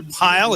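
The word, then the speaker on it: Peil: I hope I'm saying that right. Asher Peel, if not Asher Pile. It's spelled P-E-I-L.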